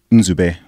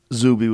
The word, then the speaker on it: Nzube: Nzube. Whoa. Which is spelled N-Z-U-B-E. So that's actually two letters different. So you just said Zubi would be a little bit more...